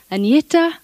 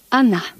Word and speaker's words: Agnetha: I know it's very hard for you to pronounce but you can say Anita or you can say Anna when we came here we discovered that you